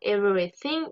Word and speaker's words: everything: attention le mot everything attention à la prononciation dans le mot everything il y a le son th le son th on va souvent le retrouver dans beaucoup de mots d'accord donc attention à bien le prononcer d'accord n'oubliez pas vous devez mettre votre langue entre vos dents pour bien le prononcer everything donc we do everything